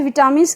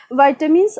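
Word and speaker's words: vitamins: बहुत सारे लोग इसे विटामिन्स के नाम से प्रोनाउंशिएट करते हैं, बट इसकी एग्जैक्ट प्रोनाउंसिएशन क्या होती है, वाइटामिन्स।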